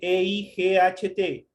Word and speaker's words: eight: El 8 se escribe E-I-G-H-T y se lee eight.